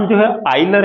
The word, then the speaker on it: Euler: तो, इस सज्जन का नाम यूलर है। भारत में इसका उच्चारण 'यूलर्स' होता है। यह गलत उच्चारण है।